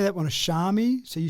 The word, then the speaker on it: Xiaomi: Yeah, they've got a couple interesting pronunciations, have they? So, I I say that one is Xiaami. So, you say Shami.